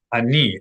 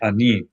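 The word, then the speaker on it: אני: Ani, accent on the final syllable. Okay. Ani.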